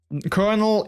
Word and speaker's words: colonel: or you know, whatever that is spelled differently than kernel in like, you know, the military. But it's like a completely different word, because you have like kernel, so like in chat kernel, but you also have kernel. But it's spelled completely different, but you say it the exact same way.